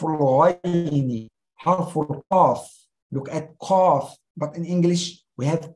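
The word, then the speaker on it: قاف: Al-kaf refers to k in English, but harf al-qaf, qaf, not kaf, qaf, mufakhamun. You raise your tongue when you pronounce qaf.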